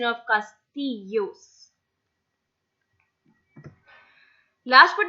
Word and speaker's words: castillos: Okay, so this double L is always pronounced as Y, as I mentioned in me llamo, if you remember. So this is a perfect fixed rule. It's castillos, not castillos. It's castillos. Castillos again are castles which